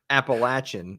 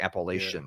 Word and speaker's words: Appalachian: So there's a lot of people who see the word Appalachian and they pronounce it Appalachian, like shun, like Appalachian, like TI.